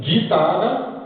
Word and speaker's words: guitare: légume, comme figure, et quelquefois le U ne se prononce pas dans le cas de guitare et guerre.